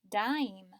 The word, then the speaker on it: dime: are pile might dim dime stripe slid spike slide notice dim and slid have the short I sound because they don't have that silent e at the end pile Mike dime stripe